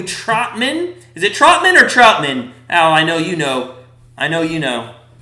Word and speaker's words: Troutman: Troutman, yeah, like Mike Trout.